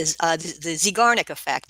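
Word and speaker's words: Zeigarnik effect: So what is the I'm trying to pronounce it. Zigarnik Effect, then. Yeah, the Zigarnik Effect.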